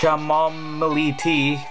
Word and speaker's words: chamomile: costs two dollars and ninety cents some chamomile chamomile that's how it's pronounced costs two dollars and seventy cents oh